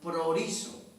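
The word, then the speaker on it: προορίζω: aquí la palabra predestinado viene de una palabra griega que se pronuncia proliso que significa determinar anticipadamente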